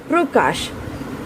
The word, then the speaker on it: प्रकाश: लेकिन र के ऊपर हमारा जोर है, प्रकाश, ना कि प्रकाश। तो यहाँ पर प जो है वो स्वर रहित है।